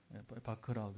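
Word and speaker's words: Bach: 요즘은 이제 사람 이름은 그 나라 발음으로, 그렇죠? 그 나라 발음으로 읽어줘야지. 그래서 이제 바크라고 이제 고정을 했는데, 바크 이야기입니다.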